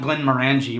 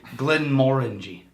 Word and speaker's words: Glenmorangie: of Glenn and by the way it's not Glenn manangi which is how I've always pronounced it I looked it up it's actually Glenn moreni h no Glenn mangi Glen moreni no no